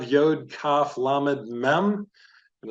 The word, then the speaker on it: Yod: very much like a yod. Yod is pronounced like the Y in yard.